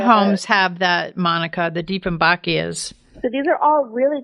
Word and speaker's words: Dieffenbachia: The next one, another one that I may butcher the name of, Dieffenbachia.